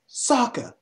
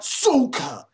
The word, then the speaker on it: Sokka: It's Sokka, not Sokka.